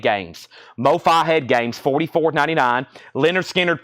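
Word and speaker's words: Lynyrd Skynyrd: left Mofi head games Mofi head games 44.99 Leonard skinnard pronounced Leonard skinnard that is 64.99 2 LP last one 45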